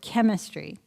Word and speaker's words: chemistry: How about chorus, chord, chemistry? CH, and what pronunciation? K.